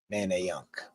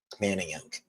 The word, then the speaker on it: Manayunk: Manayunk. That's how you spell it. Manayunk.